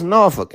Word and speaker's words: Norfolk: And you don't even say it correctly. You don't even say it's Norfolk.